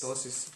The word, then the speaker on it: ptosis: Ptosis, P usually is silent in English.